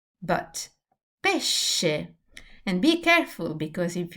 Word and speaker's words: pesce: So pesche, pesce. They look quite similar. This is a hard sound. This is a soft sound.